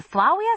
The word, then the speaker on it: Flavia: AP French you know the V is supposed to be pronounced w what in Flavia it's supposed to be